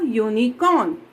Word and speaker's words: unicorn: For example, a unicorn. Here your word start with a vowel but it gives you the sound of consonant. Here you pronounce as YU.